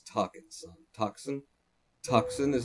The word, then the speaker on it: Tucson: Spell Tucson, as in Tucson, Arizona. Spell it.